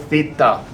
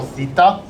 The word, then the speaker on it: theta: It's called theta. It's spelled t h e t a in the Greek alphabet.